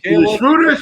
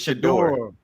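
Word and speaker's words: Shedeur: Shruder. How you say it? It's Shador.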